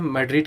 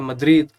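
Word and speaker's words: Madrid: तो चलो देखते हैं मैड्रिड के बारे में यहाँ पे। तो मैड्रिड या मद्रिद, जैसे भी आप प्रोनाउंसिएशन करना चाहो कर सकते हो अपने अकॉर्डिंग।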